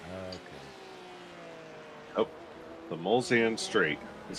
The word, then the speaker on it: Mulsanne: Mulsanne, like Mulsanne Strait. Bolsan? Yeah, I'm not going to remember that. The Mulsanne Strait, yes. Spell that for me. M-U-L, so that's Bull, right? And then S-A-N-N-E, that's Sam.